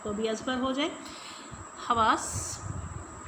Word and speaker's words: حواس: بھی ازبر ہو جائے۔ حواس، ہے پر زبر، واو کے اوپر زبر اور سین کے اوپر جزم کیونکہ آواز رک رہی ہے۔ मुख्तल, मीम के ऊपर